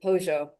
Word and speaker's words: Pollo: a ant there named Pojo. It was it was Pojo means chicken in Spanish. Um and they pronounced the double L like with a J sound down there.